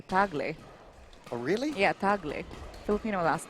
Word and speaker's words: Tagle: um last name the proper way to say it is actually tagley oh really yeah Filipino